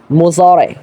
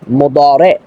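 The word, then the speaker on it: مضارع: লাগতে পারে এটা তো মুজারে মারুফের সিগা মানে যেটার অশুদ্ধ উচ্চারণ হলো মুজারে শুদ্ধ উচ্চারণ হলো মোদারে মারুফ তাহলে অনুবাদ কেন মাজহুলের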